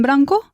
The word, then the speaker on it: blanc: Tengo un pantalón blanco. Yo también tengo un pantalón blanco. ¿Cómo se dice blanco? Blanc. Blanc. Blanc. Se escribe blanc, pero la C no suena.